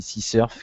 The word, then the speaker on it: CSRF: donc SQL Injection et CSRF prononcer aussi c sururf qui est une cross